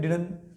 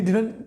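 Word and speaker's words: didn't: अब डिडंट, डिडंट, डिडंट, उसके बाद क्या है डिडन। ही डिडंट take T, ही डिडंट take T, ही डिडंट take T, डिडंट और फिर डिडन, दोनों तरीकों से आप इसको प्रोनाउंस कर सकते हैं आप, राइट।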